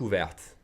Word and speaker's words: ouverte: Elle a la bouche ouverte. She has the mouth open. Elle a la bouche ouverte. I'm pronouncing the T because bouche is feminine, so I'm adding an E.